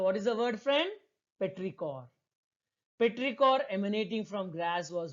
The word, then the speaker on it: petrichor: Earth's smell after rain is called petrichor. How to pronounce this word, friends?